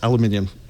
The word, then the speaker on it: aluminium: That's aluminium. Is that okay as a pronunciation check, Ron?